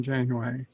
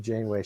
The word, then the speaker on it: Janeway: this once coffee black who is Captain Catherine January that's right you pronounced your wrong bird it's insane way my bad we with all of the crap that I give Janeway she is definitely my one of my top